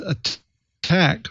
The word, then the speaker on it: ATT&CK: a att and ck that's pronounced attack framework from non-profit corporation